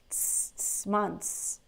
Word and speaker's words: months: very good months months so there's no th here okay yeah close but